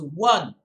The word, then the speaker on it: won: wide popularity and reputation w o n should be pronounced as one like o n e one please do not make